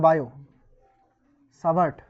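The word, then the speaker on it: Biot–Savart: সাভার্ট এর সূত্র ইংরেজিতে এই নামটা হচ্ছে বায়োট উচ্চারণ বায়ো সাভার্ট দুজন সাইন্টিস্ট মিলে এক্সপেরিমেন্টালি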